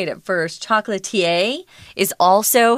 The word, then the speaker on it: chocolatier: didn't know how to say it at first chocolatier is also how it's PR pronounced chocolatier he's someone who's really really uh skilled at